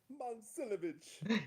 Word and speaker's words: Momcilovic: You do a little bit better in yeah, pronouncing it, Mom but Silovich. Momcilovic.